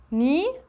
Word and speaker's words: knee: Knee bedeutet Knie. Das K spricht man hier im Englischen nicht mit aus.